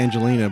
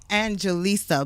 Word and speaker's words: Angelisa: I don't know why I wanted to say Angelina, but I put it in properly. You're not the only one. You're not the only one that says my name wrong, but it's Angelisa.